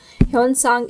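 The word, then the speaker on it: Xuanzang: ह्यून सांग, इसकी pronunciation कुछ भी हो सकती है चाइनीज लैंग्वेज में, बट हम इसे ह्यून सांग कह सकते हैं.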